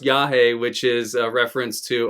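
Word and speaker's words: Yage: I'm like, I'm not going to call it Yagi or Yagi. And I had people clowning me in the comments. So, it's pronounced Yahi, which is a reference to Iawaska.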